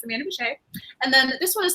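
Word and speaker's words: Bouchet: So I have the latest Amanda Boucher, and I always feel as if I'm going to say her name wrong, but it's Amanda Boucher.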